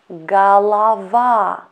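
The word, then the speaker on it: голова: this word means leap next word is galava galava galava galava stress to last letter ah that's why you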